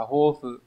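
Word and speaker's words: 抱負: Cái từ này nó đọc là hofu.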